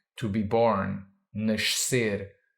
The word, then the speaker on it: nascer: to be born, nascer, tricky word because it has an S at the end of a syllable followed by a C next to an E or I. Why is that tricky? Because an S at the end of a syllable sounds like sh, and a C next to an E or I sounds like s. And technically, you should say sh followed by s, which can be tricky for a non-Portuguese speaker,